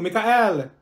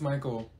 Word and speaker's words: Michael: beating you mean Beatrice thank you Mikhail ma'am it's Michael okay what about slow